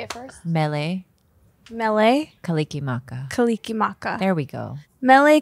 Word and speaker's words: Mele Kalikimaka: Mele. Kalikimaka.